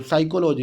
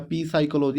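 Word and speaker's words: psychology: PSYCHOLOG, suppose कर लो, इसे क्या पढ़ते बच्चों, साइकोलॉजी, इसे क्या पढ़ेंगे हम, साइकोलॉजी। वो ये तो नहीं पढ़ वो पढ़ पा रहा पी साइकोलॉजी, ऐसे तो नहीं बोल पा रहा वो।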